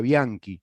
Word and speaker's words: Bianchi: castellanizar lo graciela bianchi bueno el apellido se pronuncia bianchi aprecio italiano blancos quiere decir y